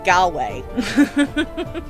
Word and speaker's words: Galway: pronounce the a-wrong again galway there we go there we go rhymes with hallway for some reason okay